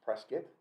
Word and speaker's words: Prescott: Okay, and his name was pronounced Prescott. It was pronounced Prescott. That's the word on the street.